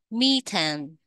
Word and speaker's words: methane: các bạn mercury methane methane methan đây là khí metan đó các bạn nha tiếng Việt mình gọi là khí metan nhưng tiếng Anh đọc là methan methan đây là một